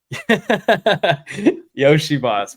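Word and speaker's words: Iosivas: So, um, just overall I got to pronounce his name. Yoshi Boss, bro.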